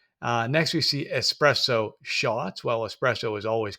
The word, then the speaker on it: espresso: It is espresso, not espresso.